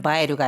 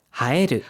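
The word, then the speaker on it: 映える: 두드러지다라고 할 때는 바에르가 아니라 하에르. 하에르라고 읽는다는 것 꼭 기억해 두시기 바랍니다.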